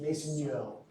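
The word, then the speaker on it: Maisonneuve: I don't do French, right? It's French. Mason mason yo. It's not new. It's not French and Spanish. I say that because that's what I called it in my head before I learned how to say it. It's like Mason Yo fracture.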